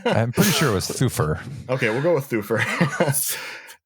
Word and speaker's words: Thufir: Thufir, like thumper. Thufir. Right? Doesn't the audiobook say it as Thufir? Thufir Hawat. I don't remember. Okay, so it's either Thufir or Thufir. I'm pretty sure it was Thufir.